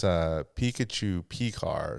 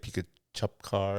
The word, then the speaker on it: Pikachu P-Car: It's Pikachu P-Car. So instead of, I get Pikachu Car and all that, but Guilty. yeah, but it's like Pikachu P-Car.